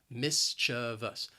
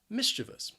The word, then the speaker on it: mischievous: maybe somebody is mischievous the word has three syllables the stress is on that first syllable and both that second and third syllable have that schwa sound but again the spelling can kind of throw you off when you want to say and pronounce this word so keep that in mind especially that second syllable that that ch sound mischievous mischievous stay with